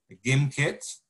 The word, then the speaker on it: Gimkit: Gimkit, or Gimkit, it is pronounced her G, as you said, Vincent, Gimkit, all right, which is